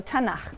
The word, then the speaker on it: Tanakh: also on that sheet tanak which is really the letters t n and um and they put little A's in there to make it easy to pronounce because is hard to pronounce so tanak okay um and this is